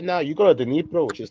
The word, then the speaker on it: Dnipro: Dnipro, the Dnipro, Ukraine. The D is silent. Dnipro. or Dnipro.